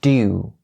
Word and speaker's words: due: The oo sound is very round and very sharp. So due to.